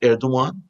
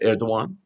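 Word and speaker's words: Erdoğan: hamas media coverage of turkish president recep tayyip erdogan his name is pronounced erdogan spelled erdogan but pronounced erdogan has been sparse because he hosted a meeting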